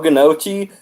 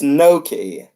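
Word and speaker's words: gnocchi: you even pronounce it that's not how you say can ochi know it's no key okay okay I understand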